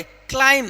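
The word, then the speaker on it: climb: thumb इसको क्या पढ़ेंगे क्लाइम क्या पढ़ेंगे क्लाइम यहां पर बी को नहीं पढ़ेंगे क्योंकि एम के बाद बी आएगा तो बी का उच्चारण नहीं होगा मेरे भाई नहीं होगा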